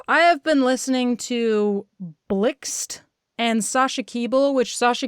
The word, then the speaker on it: Blxst: But she has a song where she crosses over with Blixt on his new album. That's spelled BLXST.